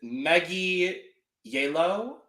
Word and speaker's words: Megui Yeillow: This is Megui Yeillow, I believe is how she pronounces it specifically. Yeah, basically like yellow.